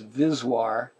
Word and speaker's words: VSWR: and a little bit which is pronounced vis waar and stands for voltage